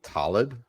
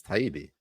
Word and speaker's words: Taibbi: Did you just call Matt Taibbi Talib? Oh, is it Taibbi? Yeah, it's Taibbi.